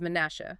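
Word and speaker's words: מנשה: The name Manasseh is Manasha, spelled with four, mem, nun, shin, he.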